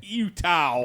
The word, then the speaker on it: Eutaw: There's a Utah, Alabama, but it's spelled EUTAW. Utah.